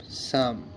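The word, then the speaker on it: psalm: এল আমি কি বলছি guys silence P ও এল পি এস এ এল এম সাম পি এস এ এল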